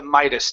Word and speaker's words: Midas: everything to have the Midas touch so that word is Midas try that the Midas touch the Midas touch ok